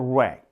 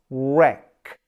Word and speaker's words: wreck: It's wreck. Wreck. You don't say W. You say wreck. Like right. Like wrong.